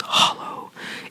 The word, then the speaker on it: hallo: breath hello hello hello so instead of saying hello hello it's just Hollow it kind of ss sounds like the word Hollow but then like with a little less thick of an lowl so you'd say hello